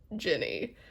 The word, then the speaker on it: Ginny: And they were like, "That is pronounced Ginny."